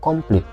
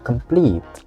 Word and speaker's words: complete: kata ini yang ditekan Jadi bukan complete Bukan tapi complete complete completeete ya itu yang diekan yang di-emphasize gitu contoh kita dengarin complete